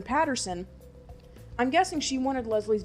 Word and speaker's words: Paterson: because I'm guessing that Katherine Peterson or Patterson oh wow I've been pronouncing her name wrong this entire time Katherine Paterson I'm guessing she wanted